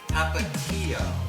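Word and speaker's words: Tapatío: Well, I've had to be schooled by Nidia to even pronounce this hot sauce, and it is Tapatio.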